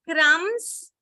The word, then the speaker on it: crumbs: yeah sorry um so when you see crumbs B is silent when but when you say crumble it's not silent okay so when you have the short word then it is silent but if it is the longer word then it is not silent so these are something